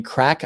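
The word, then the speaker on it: craic: Is it, you mean crack, Irish crack? C-R-A-I-C is how they spell that in Ireland.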